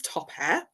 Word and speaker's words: Topair: so my name is topair I would say it's pronounced like top the top that you wear and the air that you breathe top Air um and I've helped